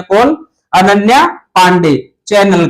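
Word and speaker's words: Chanel: जो कई जगह इसका चैनल भी लिखा हुआ आ सकता है लेकिन इसका उच्चारण चैनल होता है और यह ब्रांड एंबेसडर बनाया गया है।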